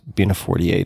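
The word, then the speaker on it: Bina48: nonlinear fashion Bea 48 who or what is beina 48 if I'm pronouncing that correctly y you've you've got it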